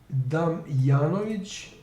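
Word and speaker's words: Damjanović: So instead of Damjanovic, instead of this J, which is pronounced as Y in Serbian, it is here is according to this historian.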